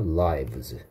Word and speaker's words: lives: 그들의 목숨을 그들의 생명을 발음 조심하라 그랬죠 살다라고 발음한 하면 되고 생명들이라고 발음해야 합니다 했죠 그 모자들이 구해줄 수 있다 그랬습니까 그래서 hat's can save라고 무엇을 there lives 요청도 아니고 허락도 아니고